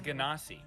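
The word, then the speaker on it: genasi: thank you so much on a linguistic sense it is ganassi because is a derivative of jin which is spelled d-j-i-n-n not with a g so there you go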